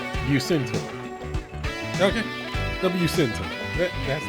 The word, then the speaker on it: Bucentaur: How to pronounce Bucentaur. Okay. The Bucentaur.